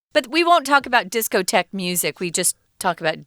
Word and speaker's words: discotheque: that was called the discotheque this word is spelled kind of weird guys because it's a french spelling a discotek is just a disco so the word